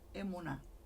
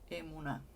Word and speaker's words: emuná: La palabra hebrea emuná. Aquí les voy a poner para que vean cómo se escribe. Emuná.